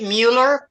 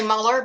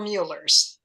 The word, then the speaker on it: Mueller: I say it Mueller. Plenty of people say Mueller, but we're Muellers.